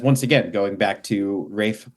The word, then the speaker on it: Ralph: again going back to Rafe findes his name is spelled Ralph and I was like